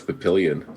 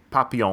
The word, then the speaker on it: Papillon: I always thought it was Papillion, so that was my takeaway from today. I learned how to pronounce that movie correctly. Yeah, it's French. Papillon.